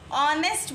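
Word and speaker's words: honest: हम एन लगाएंगे क्योंकि इसमें हम ऑनेस्ट बोल रहे हैं ऑनेस्ट हा इस साइलेंट और हम साउंड किसकी ए रही है ओके और ओके क्या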